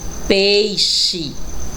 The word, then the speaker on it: peixe: ch próximo a imagem é um peixe também x com som de ch e logo abaixo tem